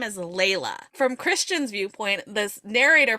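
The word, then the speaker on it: Leila: and the stalker x sub her name they pronounce her name is Layla from Christian's Viewpoint this narrator pronounces it as Leela and I'm like why why did we did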